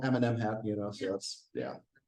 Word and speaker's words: Amenemhat: remember this yeah so I've heard it pronounced Eminem hot or something like that I call them Eminem hat you know so that's